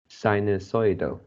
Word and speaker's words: sinusoidal: line the last word you pronounce as sino soyda and which is the first syllable should be psy sinusoidal dinosaur and then also